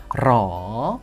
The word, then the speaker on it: หรอ: Dalam penulisan, memang benar ditulis ro dengan huruf r. Tapi ya, kami tahu bagaimana pengucapan huruf r dalam bahasa Thailand. Jadi kemungkinan besar kita akan sering mendengar ini diucapkan sebagai la. Menjadi L.